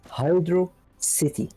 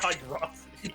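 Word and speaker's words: Hydrocity: The correct pronunciation is Hydro City.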